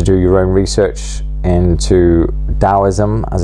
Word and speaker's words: Taoism: your own research into taoism as it's called although it's often written with a T at the beginning um but I believe it's pronounced with a d uh uh I'm here